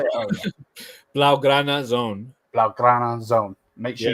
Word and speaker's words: Blaugrana: Is it Blagar? How do you say your channel's name? I was trying to say it earlier. Blaugrana Zone.